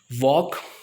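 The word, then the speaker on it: walk: वॉक, उसके बाद Fock, और उसके बाद चॉक। सो आप सारे स्पेलिंग नोट कीजिए।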